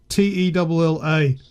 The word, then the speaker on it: Nutella: It was actually on their website, phonetically spelt, so Newtella, Nutella.